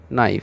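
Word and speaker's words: knife: বা নাইফ কে এন আই এফ ই নাইফ আমরা ছোট থেকেই এটা পড়ে আসি নাইফ তো আমরা কিন্তু বলছি না কে নাইফ এই যে কে টাকে সম্পূর্ণ উজ্জ্ব করে দেওয়া হচ্ছে শুধু আমরা নাইফটা উচ্চারণ করছি কে আছে বানানের মধ্যে আছে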